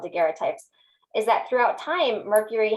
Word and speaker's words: daguerreotype: Chandra, I have to know if I'm probably pronouncing it incorrectly. Say it again one more time. Oh, daguerreotype.